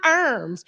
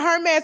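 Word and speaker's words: Hermès: They was like, "Tasha, it's not Herms. It's not Herms." I was like, "What is?" They said, "Hermes, who gives a damn?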